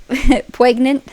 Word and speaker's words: poignant: the plain words, like poignant. Poignant. Poignant. poignant. Sophie said this in a sentence while we were just like talking on Discord, and I'm like, wait, did you just pronounce the G?